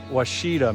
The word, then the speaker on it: Ouachita: we got here is how to pronounce the Ouachita mountains and one of the guys finally told us it's Washita mountains or yeah Washington Washington